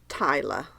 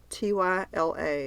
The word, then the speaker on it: Tyla: album if it's nominated so Tyla T Y L A you familiar with Tyla oh you're not just pronouncing Taylor a different way no no she's a